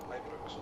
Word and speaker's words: Ibrox: Ibrox, next stop.